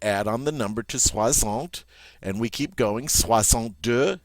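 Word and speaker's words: soixante: you can see here the word for 60 in French is Swant Swant this x is going to be pronounced like a z all right so 60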